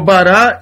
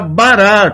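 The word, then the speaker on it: ברא: Só que o alif não fecha a sílaba, é como se ele não existisse aqui na palavra.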